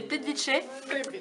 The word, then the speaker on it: Plitvice: Donc, Plitvice, c'est Plitvice et Karka, on sait bien foutu de notre gueule, mais c'est Korko. Et pas Karka. Bah en fait, ça s'écrit K-R-K-A.